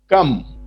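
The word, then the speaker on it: كم: कम, ये एक वर्ड है, क्वेश्चन वर्ड है अरबिक का, इसका प्रोनाउंसिएशन है कम।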